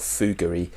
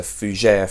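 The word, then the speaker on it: fougère: no it's it's not it's not fou Guri it's a fujur fragrance so Fujiya means fun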